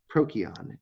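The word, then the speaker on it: Procyon: makion canis um since these are greek names or roman names i there was no americanized c like uh ch no sound in in greek and latin a c would always be pronounced cut like a k prokion in canis minor uh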